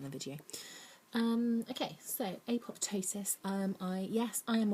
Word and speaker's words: apoptosis: Apoptosis is supposed to be pronounced apotosis, but um I think